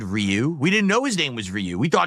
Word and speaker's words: Ryu: so there you go Japanese pronunciation of that is Ru one syllable that was very close